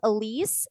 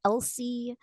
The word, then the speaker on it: Elise: My real name, my first name, I should say, is Elise. And growing up, I always got called Elsie.